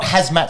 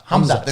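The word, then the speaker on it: Khamzat: It's not hazmat suit. It's not a big yellow suit that you'd wear to say deep clean. Hamzat. So the K is silent and it's not the K is silent.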